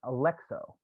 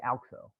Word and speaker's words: Alxo: Is it would because Tandy always says Alexo, but I always say Alxo. What would you say? That's a great question. I accept either one.